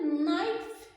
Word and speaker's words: knife: Próxima palavrinha, knife. Knife. O K realmente ele é mudo nessa palavra. O K nessa palavra aí é uma silence letters, que é uma palavra, é uma letra silenciosa, não é?